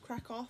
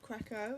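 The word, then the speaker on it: Kraków: It's pronounced Krakow, not Krakow. It's a silent W.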